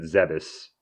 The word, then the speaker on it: Zebes: So they picked up Samus, brought her to, I pronounce it Zebes.